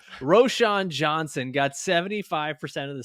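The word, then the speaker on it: Roschon: backfield for the Bears ran Johnson got why did I pronounce it like that ran rashan Roshan Johnson got 75% of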